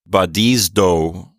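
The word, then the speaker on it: βαδίζω: this book is to pronounce zeta like a Z and a D, like in the word wisdom, right? Right. So we're pronouncing this word as badizdo.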